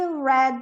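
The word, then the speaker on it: read: passado no particípio e no presente é Bridge red red Então apesar da pronúncia ser diferente mas a escrita é esta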